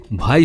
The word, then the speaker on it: ভাই: তারা বাহিয়ান সম্প্রদায়ের লোক বাহাইয়ান কে সংক্ষেপে বাহাই বলা হয় উপমহাদেশের উচ্চারণে এই বাহাই পরবর্তী ভাই হয়ে যায় 90 দশকের চিত্রনায়ক সোহেল